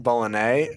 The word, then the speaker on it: Bologne: It's supposed to be pronounced Bolognese, but Joe Baloney would have